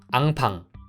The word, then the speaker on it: 앙팡: 하시는 입이 움직이는 경우입니다 이응 발음을 입과 혀가 전혀 움직이지 않습니다 제 입을 보시면 팡 를 발음 하기 전까지는 입과 혀가 절대 움직이지 않죠 아 팡 많은 분들께